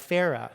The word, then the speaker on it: Farah: The chance to meet new colleagues like Farah, whose name rhymes with Sarah, from Dubai, and Antonio